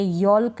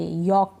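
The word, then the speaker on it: yolk: काफ, हाफ, अब हाल्फ नहीं पढ़ेंगे, यॉल्क नहीं पढ़ेंगे, हाफ पढ़ेंगे, यॉक पढ़ेंगे, फोल्क नहीं फॉक, टाल्क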